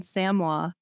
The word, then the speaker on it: Samoa: I know how to pronounce it because I just watched 90 Day Fiancé. So it's in Samoa.